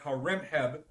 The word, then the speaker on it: Horemheb: Then you had Horemheb, the last pharaoh. His name is spelled Haremhab. Horemheb.